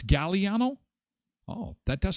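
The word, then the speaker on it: Galliano: I think it's vanilla gilliano is it a hard g g it's gallano oh that does sound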